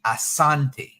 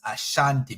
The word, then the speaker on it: Asante: it's actually a misnomer the word should be Assante AA n t but because the British and their translation again it comes out as a Shanti because of course they're trying to pronounce an African word or how Africans pronounce it it's the same thing